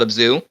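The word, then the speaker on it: Abzû: the creator who made it uh it's called a zoo i don't know how to spell it it's uh you know the game journey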